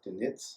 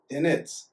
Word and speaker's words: Dinetz: We'll be right back with Michael Dinetz. I said it right? See, I messed up. Time out again. Dinetz.